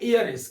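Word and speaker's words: heiress: उसी प्रकार से एक होता है एयरिस। क्या? एयरिस। अब एयरिस बोले तो इसमें भी एच साइलेंट, क्या आ गया, एयरिस।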